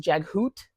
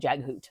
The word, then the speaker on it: Jaghut: Jaghut is Jaghoot, Tist Andy or what Tist anything is now Ticed.